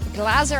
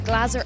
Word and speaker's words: Glaser: am here with Benny Glaser. I've just caught up with him at his bracelet ceremony. Maybe the most mispronounced name in poker. We can confirm finally it's Glaser and not Glaser.